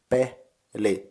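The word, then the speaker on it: peli: game is in Finish game is B in syllables it's p li like P in pendant li like in lizard so B what is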